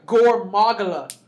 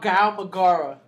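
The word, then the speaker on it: Gore Magala: you kind of a gormagala oh you're saying it wrong it sounds so stupid in japanese it's called gao magara gao magara say that just just let that roll like dara this is does that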